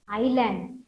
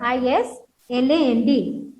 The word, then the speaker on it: island: So that is called land surrounded by water is called island. So what is the spelling? I-S. Here S is silent, children. I-S-L-A-N-D.